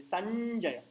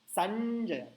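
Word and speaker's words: सञ्जय: touch हो रही है संजय संजय तंग पीछे जानी चाहिए संजय आया समझ में संजना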